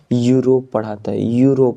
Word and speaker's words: Europe: Vowel अक्षर से start हुआ, लेकिन जब इसका प्रोनाउंसिएशन करते हैं तो क्या पढ़ाता है, यूरोप पढ़ाता है।